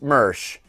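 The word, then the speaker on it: Moersch: Jeff Mersch, pronounced Mersch, professor of planetary science at the Department of Earth and Planetary Sciences at the University of Tennessee.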